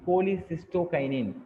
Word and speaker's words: cholecystokinin: So what you mean by கோலிசிஸ்டோகைனின்? சில பேர் சோலிம்பாங்க, சோலின்னு pronounce பண்ணக்கூடாது, கோலிசிஸ்டோகைனின், CCK.